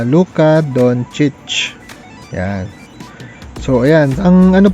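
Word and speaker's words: Luka Dončić: Dati po kasi ang pronunciation ko ay Luka Doncic. Pero I think mas tama na Luka Doncic.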